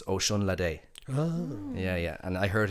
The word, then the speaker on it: Osunlade: So think of it like Ocean Latte, but it's Osunlade.